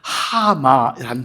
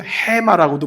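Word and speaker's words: המה: 있지요 자이 불안이란 단어가 히브리어로 하마이라는 단어예요 혹은 해마도 발음하는데 하마 편하게 여러분이 기억하게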